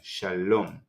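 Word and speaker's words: שלום: This is silent Vav. We can't hear and we don't need to pronounce the Vav, and the final Mem, Shalom.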